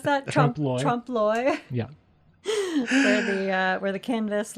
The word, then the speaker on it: trompe-l'oeil: How do you pronounce that? Trompe-l'oeil.